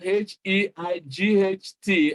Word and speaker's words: height: Again, you see that English words are the way they are spelled differ from the way they are pronounced. Here we have H-E-I-G-H-T, and what the sound is, the sound exactly is height.